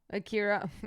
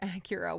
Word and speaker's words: Akira: Akira. Acura. Why am I pronouncing it like the car?